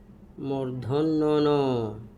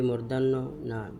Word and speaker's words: মূর্ধন্য: ট ঠ ড ঢ মূর্ধন্য এই মর্ধন্যন এর ক্ষেত্রে আমরা অনেকটি ভুল করে থাকি। কেউ বলি মদিনান্য কেউ কেউ বলি মর্ধান্য না সেটা এমন নয়। এই উচ্চারণ ভুল। বরং শুদ্ধ সঠিক উচ্চারণ হচ্ছে মর্ধন্যন আমরা আশা করি বুঝতে পেরেছি।